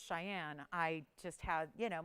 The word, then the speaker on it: Cheyenne: so it's just like when i thought the capital of wyoming was shenyang when i was little and it's cheyenne i just had you